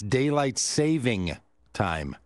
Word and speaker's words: daylight saving time: host, hey, radio host, it's daylight saving time. No S. Did you know that? It's mispronounced all the time. It should be like a hyphen, daylight hyphen saving. Saving daylight time. It's not like a savings and loan bank.